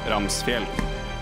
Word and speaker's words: Ramsfjell: Ramsfjell. That is how you pronounce it.